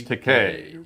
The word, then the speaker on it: Takei: And he shook my hand and he goes, "Well, actually, it's Takei. Rhymes with okay."